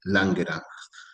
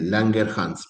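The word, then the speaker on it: Langerhans: pueden también llamar islotes de Langerang. Eh, Langerhs, perdón, así se pronuncia, Langerhs, ¿sí?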